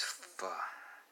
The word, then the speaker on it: pho: a giant bowl of pho. Now some people don't know how to pronounce that. Some people don't know how to pronounce it. Whether it's pho or whatnot, it's pho.